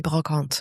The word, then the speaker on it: brocante: B is for in an in an Australian accent I'd say brocante. How would you pronounce it? Well, in French you'd say brocante.